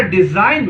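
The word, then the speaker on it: design: इसी तरह डिजाइन में ये G साइलेंट है।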